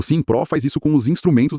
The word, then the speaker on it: SIMM.PRO: E só pra lembrar, a pronúncia é Simpro, pessoal. Isso, Simpro.